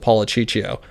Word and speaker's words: Policiccio: And while I was there, I met an attorney named Joseph Policiccio. Policiccio was in town for like 40 years. I'm glad you pronounced his last name because I read it on your...